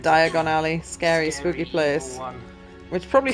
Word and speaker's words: Diagon Alley: based on preset locations it says diagonal alley or whatever instead of Diagon Alley scary spooky place which